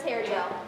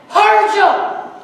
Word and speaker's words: Hargel: I present to you Prince Hair Gel. How many times do I have to tell you people that the I is silent? It's Hargel.